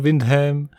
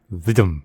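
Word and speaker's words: Wyndham: of the trifit by John Windham or as some people might think it's pronounced John viam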